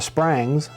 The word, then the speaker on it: Sprangs: And I changed Springs to Sprangs, because that's the way they say it in Western Kentucky. That's the way they say it here.